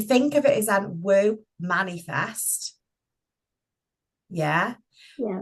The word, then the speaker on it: Womanifest: But if you think of it as an woo manifest. Yeah. Yeah. Woo manifest as in like woo woo woo woo.